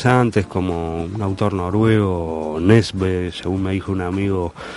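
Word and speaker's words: Nesbø: otros autores muy antes como un autor noruego nesbe según me dijo un amigo que vivió en Suecia que se pronuncia así se escribe nesbo y se pronuncia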